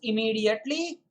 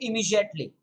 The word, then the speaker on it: immediately: once and for all you may pronounce it as immediately or you may also say immediately i repeat immediately or immediately both of them are correct there is a lot